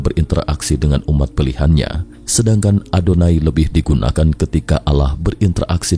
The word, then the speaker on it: YHWH: diketahui ia W atau yhwh diucapkan adonai yang berarti Tuhan dalam